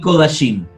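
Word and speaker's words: קֳדָשִׁים: Y la segunda regla nos dice que siempre es O en estas tres palabras, Kol, Shorashim y Kodashim. Siempre es O, nunca es A.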